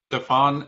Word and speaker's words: Stefan: you don't know that oh you're right it's a bit like stephen in fact so welcome